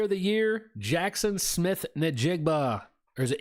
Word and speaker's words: Njigba: Offensive player of the year, Jackson Smith Nigbba. Or is it Injigba? I don't think you pronounce the N, do you? It's I think it's Injigba.